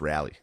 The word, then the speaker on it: Raleigh: It's pronounced Rally.